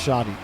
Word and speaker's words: Shady: I was told that Shady's name is pronounced Shoddy when I casted him in Salt Mine.